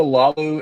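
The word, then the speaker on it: Laulu: gonna be doing I can't even say, is Lalu, right? Is that how you say his name? Yeah, it's Jonah Lalu and then Clayvon Chason. We did not, as far as our pronunciation goes, I did not exactly do us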